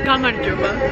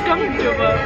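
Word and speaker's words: გამარჯობა: Gamarjoba. Gamar, that's not what you told me before. Gamarjoba.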